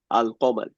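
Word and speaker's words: القمر: আর কমার কমারুন মানে চন্দ্র এটার আগে যদি আল যুক্ত করি তখন হচ্ছে আলিফের লামের উচ্চারণটা রাখি। আল কমার।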